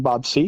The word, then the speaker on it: Seay: Uh well, I'm Bob C and thank you for pronouncing my name correctly.